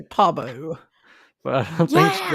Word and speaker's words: Pabu: They're on Pabu." No, I think we've been saying it wrong. Have we? Because we've been saying Pabu, but I feel like they were saying Pabu. Like emphasis on the Pabu.